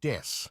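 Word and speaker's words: です: English word death instead of the Japanese word des, ベビーメタルです as des means I am or we are and is Oh.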